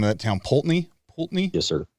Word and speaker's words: Poultney: Poultney? Yes, sir. Poultney?